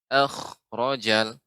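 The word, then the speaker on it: أخرج: Sedikit tadi koreksinya untuk kha ya. Ini termasuk huruf isti'la. Jadi akhrajal wa ma yakhfa.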